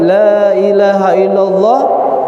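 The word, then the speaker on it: لا إله إلا الله: barangsiapa yang mengucapkan kalimat La Ilaha Illallah dengan cara memanjangkan digalang mengucapkan kalimat tersebut tidak dibaca pendek semua tidak gagal itu agak Gail Oh tapi ada dari sekian pengucapan kalimat Lailahaillallah itu dipanjangkan cara mengucapkannya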